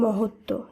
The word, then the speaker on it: মহত্ব: শুদ্ধ উচ্চারণ হবে সান্ত্বনা একইভাবে মহত্ব শব্দে তয় তৈয় ব যুক্ত ব্যঞ্জনের সঙ্গে ব ফলা যুক্ত রয়েছে তাই শুদ্ধ উচ্চারণে ব ফলাকে বাদ দিয়ে শুধুমাত্র তয় ত যুক্ত ব্যঞ্জন সহযোগেই শব্দটি শুদ্ধ উচ্চারণ করতে হবে তাই শব্দটি শুদ্ধ উচ্চারণ হবে মহত্ব একইভাবে দ্বন্দ উচ্ছ্বাস তত্ত্ব